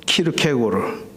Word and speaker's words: 키르케고르: 아 저 이거 차고 있잖아요 아직도.이 이 사진의 인물은 발음대로 하면 쉐렌 키르케고르 키에르케고르라고 많이 알려져 있는 어 덴마크의 실존주의 철학자입니다.